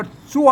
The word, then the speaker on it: สวรรค์: ตะกี้ เ หัน ว่า เปลี่ยน เป็น สวรรค์ อัน นี้ มี ไม่ ชัด ก็ อ่าน ว่า สวน นะ ครับ อ่าน สวน อ่าน